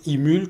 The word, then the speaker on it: eMule: produit c'est le produit emule j'ai bien prononcé c'est ça c'est bien ça emule comme électrique nul ok c'est quoi cette